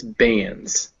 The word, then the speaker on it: bands: Yeah, and it's bands. Bands. Yes, that's it. Bands. And it's more like a Z at the end than an S.